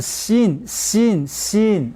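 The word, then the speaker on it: שׂין: 자, 그 다음 단어 보게 되면은 하나는 씬. 발음이 씬이에요. 씬 했지만 그냥 씬. 좀 강하게 씬.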